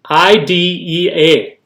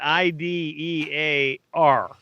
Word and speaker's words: idea: It's not IDEAR. The way you said it is with an R.